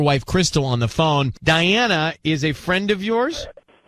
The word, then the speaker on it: Dianna: Can we send it to Diana? It's spelled Dianna.